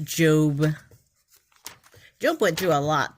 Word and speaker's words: Job: It is pronounced Job.